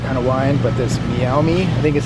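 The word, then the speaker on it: Meiomi: I picked up Mei correct me if I'm wrong mayomi may I think it is mayomi you got it I also got some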